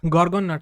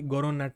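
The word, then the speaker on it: gorgon nut: तो गॉर्गन नट, सॉरी गोरोन नट नहीं होता है, गॉर्गन नट होता है।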